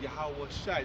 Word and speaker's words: Yahawashi: Yeah, so Yahweh and Yahweh Shai. Just add a Shai at the end of the pronunciation.